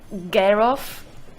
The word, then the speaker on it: Jarove: Jur or Gur? Girl. Original from Bulgaria, you pronounce it Gerov.